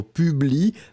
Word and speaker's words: publie: So publie, P-U-B-L-I-E. Final E not pronounced, but still it should be here.